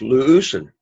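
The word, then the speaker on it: λύουσιν: But the accent is on the first syllable, so it's luusen.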